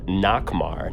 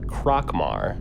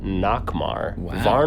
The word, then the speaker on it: Nakhmar: had a letter from i was pronouncing his name wrong the whole time nakamar not krakmar nakhmar split face nakhmar nakhmar i really